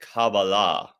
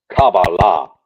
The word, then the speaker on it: Kabbalah: bit about it not a lot but they pronounced it cabala cabala okay well you know forgive me for uh